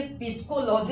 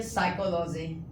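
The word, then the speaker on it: psychology: अगर पी आपको दिख जाए तो पी आपका क्या होता है? साइलेंट होगा। पी क्या होगा? साइलेंट होगा। आइए कुछ एग्जांपल लेते हैं हम लोग। देखते हैं। देखिए तो कहां है? एस से पहले। तो बोलिए पिस्कोलॉजी पढ़ेंगे या फिर साइकोलॉजी?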